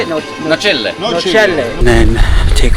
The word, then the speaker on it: Nocelle: starts from Positano to Nocelle.